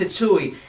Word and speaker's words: Tichui: Now, I used to call it tissue, but it's actually pronounced Tichui, and it's actually the world's healthiest superfood, okay?